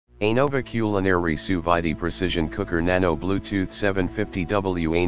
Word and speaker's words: sous-vide: Anova Culinary Sous-Vide Precision Cooker Nano Bluetooth 750W Anova App included. Perfect results every time, never over or undercook your food again. The Anova Precision Cooker Nano Sous-Vide, pronounced sous-vide, circulates water at the exact temperature required for